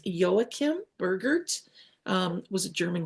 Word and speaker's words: Joachim: I learned that it's not waim which is the Spanish way of pronouncing it but the German Way is yoakim bergert um was a